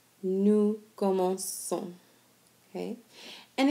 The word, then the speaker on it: commençons: And if you remember what that C does, it makes it be pronounced like an S sound instead of a hard K sound like K, okay? And so again, if an O follows a C, then it makes the C be pronounced like a K.